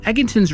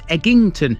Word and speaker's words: Egginton: the a38 vastly residential eggington's residents often voice their annoyance about their Village's name Outsiders often unwittingly add an extra G over pronouncing its name as eggington instead rest assured there are